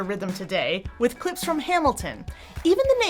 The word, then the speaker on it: Hamilton: Hamilton. My name is Hamilton. Hamilton. 3 syllables and the first one is stressed.